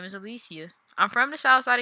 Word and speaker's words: Alicia: I know it's spelled like Alicia, but it's Alicia. I promise you, it's pronounced Alicia.